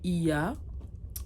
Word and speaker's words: Oia: Oia, ils le disent plus IA. En fait, ça s'écrit O-I-A.